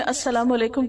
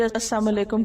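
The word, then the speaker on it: अस्सलाम अलैकुम: रहे होते बसा कात हम जल्दी में अस्सलाम वालेकुम कहने के बज अलाम अलेकुम कह देते लाम को प्रोनाउंस नहीं करते जबक साम का मतलब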